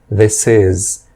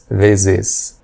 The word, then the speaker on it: this: Na pronúncia, a palavra this, eu vejo muitas pessoas pronunciando o som de S com o som de Z, o correto é som de S, conectando com is, this is, e não this is.